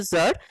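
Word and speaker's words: Tsar: আর এই উচ্চারণটা হচ্ছে জার, যেখানে টিটা সাইলেন্ট থাকবে।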